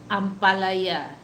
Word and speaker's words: ampalaya: Oh my God, it makes me laugh because, oh, finally, this is the Filipino word that you pronounce it correctly with a tone, with that tone.